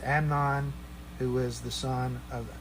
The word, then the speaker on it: Amnon: It's not Amon, it's Amnon, who was the son of Ahinoam of Jezreel.